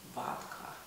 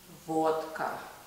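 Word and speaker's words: водка: into the drinks here and in English they pronounce it vodka in Russian we pronounce it vodka vodka because there's a lot of illness we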